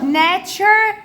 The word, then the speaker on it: nature: قولوا معايا: فود، food, nature, and culture. وقلنا يا حبايب قلبي الاربع حروف، ركز معايا، اللي هم TURE اللي في اخر الكلمه بتتنطق اتشر، بتتنطق TURE بتتنطق اتشر. قول معايا: nature, culture, nature.